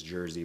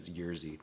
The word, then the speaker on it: Jerzy: And then, of course, it ended up being Jerzy Skolimowski, who for years I pronounced his name as Jersey, but I think the actual pronunciation is Jerzy.